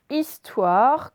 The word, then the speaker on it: histoire: Je vous dis juste que histoire, il commence par un H muet. Allez-y. Donc, un H muet au début d'histoire. Is, donc I-S. Toire. On se rappelle, son wa comme boîte, c'est OI.